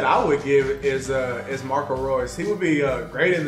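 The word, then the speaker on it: Reus: when the commentator, he pronounced Marco Royce as Rouse. Somebody passed Royce the ball, and he would say Rouse.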